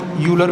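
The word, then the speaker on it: Euler: ऐसा यूलर लिखा है कुछ, इसका प्रोनाउंसिएशन क्लियर ऑयलर टाइप होता है, ऑयलर। इसको बाकायदा लोग यूलर भी बोलते हैं, कोई दिक्कत नहीं है, बस नाम याद रखना है।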